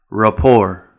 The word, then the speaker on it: rapport: And some of these words will have the silent letter T as well, like ballet, gourmet, rapport.